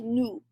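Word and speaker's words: nous: this is new and you're not going to pronounce that s unless the next word starts with a vowel and that is to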